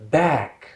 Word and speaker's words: back: part so bottle in american english number 14 back back back i've heard many students over here in our country saying buck buck it's not bug okay if there's you